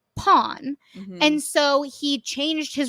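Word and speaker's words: Pon: at the end right but his name is pronounced pawn and so he changed his romanization I think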